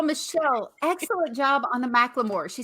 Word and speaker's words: McLemore: First of all, Michele, excellent job on the McLemore. She said, how do you pronounce Dorie's last name? And I said, like the song Thrift Shop.